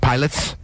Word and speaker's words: Pilates: Yeah, like John Pilates or something. Just made it up. Okay, it's good for you. And he's like, my name is pronounced Pilots.